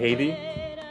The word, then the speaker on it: Heidy: Okay, so you pronounce it Heidy? Yeah. Okay, that makes sense. Well, in English, Heidi, but Heidi is like feels closer to me.